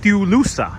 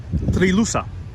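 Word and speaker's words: Trilussa: of the famous poet dulusa dulusa i think that's this house pronounced it was a moniker he had three lusa sorry my mistake three lusa it was a moniker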